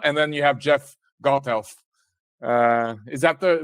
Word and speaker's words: Gothelf: Castro Felipe Castro and then you have Jeff goldhealth uh is that the right pronunciation absolutely yes thank you so who are